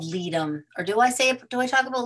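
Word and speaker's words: Ledum: of all this other stuff, is something called leadum.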